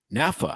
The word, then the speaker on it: NAFA: new organization called Naf NAFA NAFA the national we'll save it we'll save it it's a National Organization okay it's a national yes it rhymes with NASA and has nothing to